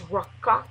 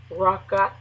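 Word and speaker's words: raqach: words reference number 7543 the word is Rak Rak and it's spelled r a q a c h r a q a c h the Phanatic is r aw- k a k and it means uh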